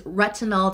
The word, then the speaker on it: retinal: is ginseng plus retinol which is retinol to hide not retinol spelled with an O So This is actually